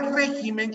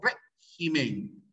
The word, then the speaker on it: régimen: algunas palabras como régimen mire la palabra régimen es una palabra esdrújula cierto régimen pero cuando se pluraliza